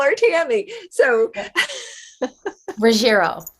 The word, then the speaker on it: Ruggiero: is like oh shoot is that how it's pronounced i just call her tammy so rogero ruggiero thank you yes it gets mixed up all